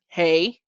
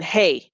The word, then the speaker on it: He: I'll write it out as H-E-H so that I won't be pronunciating that as he when I see it, right? But it's as in hey, and the transliteration letter